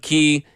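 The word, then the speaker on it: Cay: the Bahamas and chub key and it was it was beautiful chub chub key you know what they do down there everything is it's spelled k c a y but they call it key and it it's really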